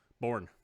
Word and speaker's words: Bourn: Bourn. That could spelled be just like Bourne. Yeah, it is spelled just like Jason Bourne.